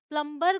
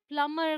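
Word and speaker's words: plumber: बुलाते आप बुलाते हैं प्लमर को ऑलराइट फिर भी मैंने बहुत सारी मूवीज और सीरीज में लोगों को प्लंबर बोलते हुए सुनाया अब उन्हें कौन बताए कि प्लंबर नहीं होता प्लमर होता है अगर आप ऐसे किसी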